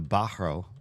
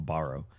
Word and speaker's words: Bahro: I think they're the the Bahro. Well, he pronounced it with like a hard h in the middle. I was going on borrow.